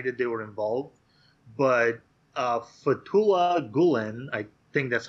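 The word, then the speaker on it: Fethullah Gülen: But Fethullah Gulen, I think that's how you're supposed to pronounce it, is an Islamic cleric of some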